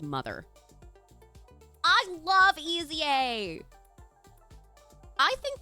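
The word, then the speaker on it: MOTHXR: It's M O T HXR, but it's pronounced mother.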